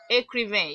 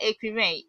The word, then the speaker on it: écrivain: Okay, like maybe she's a writer or she's an author, you say elle est écrivain. You won't pronounce the last letter. Elle est écrivain.